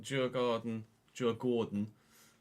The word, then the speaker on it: Djurgården: So we've got Djurgården, I guess, to pronounce it the Swedish way.